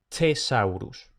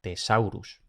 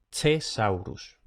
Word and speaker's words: thesaurus: Y luego, TH, como ya hemos podido escuchar y suponer, se pronuncia con una T aspirada, thesaurus. O si acaso con una T normal, thesaurus. Pero lo ideal, thesaurus.